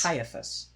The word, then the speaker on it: Caiaphas: Yeah, and you're going to have to help me with the pronunciation. Is it Caiaphas? Caiaphas.